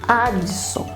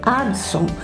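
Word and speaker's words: Adso: A pronúncia Addison em italiano é muito próxima de Watson.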